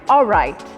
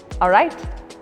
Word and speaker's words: alright: When you're pronouncing, instead of L, pronounce it with W. So which is like, I am alright. Alright?